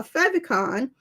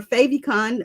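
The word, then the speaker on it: favicon: that is now considered a fon or faon or five icon depending on how you pronounce it and have that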